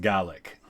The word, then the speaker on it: Gaelic: with some differences but Irish is Gaelic in Scottish it's pronounced gallic of unverified stories of